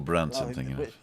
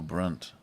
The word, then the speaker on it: Brand: that's Russell BR Russell Brand did anybody actually find him funny Russell Brandt yeah no Russell Brand brand yeah Russell Brandt I was I was I was pronouncing it the German Way oh talking about Germans